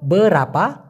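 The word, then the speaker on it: berapa: কিনতে গেলে এবং ইনি ব্রাপা হারগা ভাই এটা কত দাম এভাবে বলতে পারেন বলেন তো বরাপা হারগা অনেকে বলে বিরাপা আবার কেউ বলে বেরপা বেরপা না ভাই উচ্চারণটা হবে বরাপা বরাপা হারগা কত দাম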